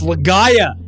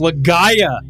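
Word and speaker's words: Legaia: It's Legaya. It's pronounced legaaya.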